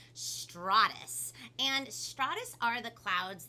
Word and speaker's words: stratus: think it was like stratus like with a long ah sound but it's actually pronounced straw like you're drinking up a straw stratus and stratus are the